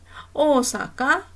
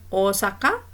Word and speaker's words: Osaka: Kemudian hai kusi sekai sushi osaka sasu idesne hajorewa. Oh cara bacanya ini betul tidak? Iya betul semua ya Minasang ya. Ini Osaka ini kalau kota Osaka memang panjang ya, tapi ee biasanya